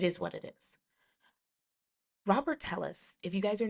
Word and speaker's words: Telles: Um, so moving on, we will now talk about, let's get into the Robert Tellis case. I think his name is either Robert Tellis or Teas. I think he pronounces it Teas.